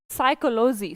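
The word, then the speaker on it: psychology: अलग name next देखें साइकोलॉजी साइकोलॉजी का भी स्पेलिंग लिखे फिर से वही कहानी इसको एस से नहीं लिखना कि साइकोलॉजी तो मैम एस से शुरू होगा नहीं पी यहां पर साइलेंट है तो साइकोलॉजी का स्पेलिंग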